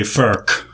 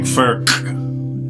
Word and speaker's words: Furch: And this is called a Furch, not to be confused with a Furch. I looked it up, and it sounds like Furch is how they pronounce it in the Czech Republic.